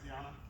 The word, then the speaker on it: Cianna: Cianna. Am I still saying it right, Cianna?